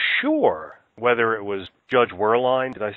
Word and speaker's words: Werlein: you thought for sure whether it was Judge Werlein, did I say his name right? Werlein, yes.